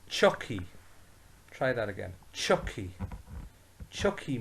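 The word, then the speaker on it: tiocfaidh: so say with me chuck fee save me chuck fee this is more frequently pronounced as he so chucky try that again chucky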